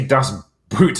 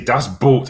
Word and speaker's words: Das Boot: Leo Film says, Drinker, don't say Das Boot, say Das Boat instead.